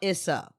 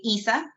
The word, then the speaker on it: Isa: you thank you now is your name isa or issa oh my name is isadora but that's a mouthful so everyone calls me isa it's easier to pronounce beautiful so isa our